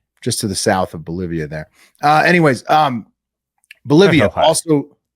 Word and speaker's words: Bolivia: Fun fact about Bolivia. It rhymes with trivia.